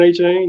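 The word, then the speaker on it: Achane: And they tried to ease off the gas and Morstead and your boy from A&M, how you pronounce that? Acne or A-Chain, Devon A-Chain, yep.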